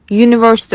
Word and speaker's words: university: Mesela a university derken aslında university kelimesi U harfiyle başlıyor ama university olarak okuyorum. Yani y harfiyle başlıyor.